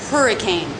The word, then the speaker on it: hurricane: about the word hurricane three-syllable word stress on the first syllable it has the H constant sound the ER as her vowel consonant her her that's the stressed syllable then the it as